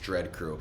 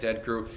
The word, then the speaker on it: Dread Crew: messaging uh me letting me know that it's pronounced dread crew it's not like I reached out to do this interview in the email and wrote in the subject dead crew there's no way that that happened shout out